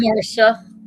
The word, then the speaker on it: Marcia: Or is it Marcia or Marsha? Marca. Spelled Marcia, but it's pronounced Marsha.